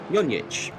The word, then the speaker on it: Zonjic: It is Zoran Zonjic, I believe. So again, I think I've got that right. So it was a soft J apparently.